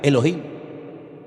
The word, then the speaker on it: Elohim: Y el primer nombre que conocemos de Dios si empezamos a leer la Biblia desde el principio es un nombre que se pronuncia Elohim.